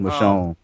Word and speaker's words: Michonne: I know how to pronounce that. M. The Walking Dead M. That'll do. It's Michonne.